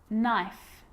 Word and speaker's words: knife: know you know this one okay is not pronounced when it comes before an N like knife no knee knock not knowledge the letter L